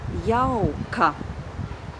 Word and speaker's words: jauka: So the last syllable is ka and the first syllable is jau. There's a diphthong in that first syllable. That diphthong is au. And the syllable is jau. Jau. And the word together is jauka, jauka.